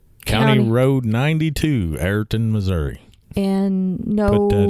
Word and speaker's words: Everton: How do the locals say Everton? Locals call it Ayrton. Ayrton.